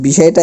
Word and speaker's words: বিষয়: অন্ত অ ব্যবহৃত হচ্ছে, এই জন্য এই অন্ত অটার কোনো উচ্চারণই হবে না, অর্থাৎ এই বিষয়টা এরকমই থাকবে। দেখি আমি একটু, বিষয়ের উচ্চারণটা হবে এরকম, বিষয়।